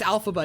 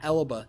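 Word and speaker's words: Elphaba: it's Alphaba, not Elaba.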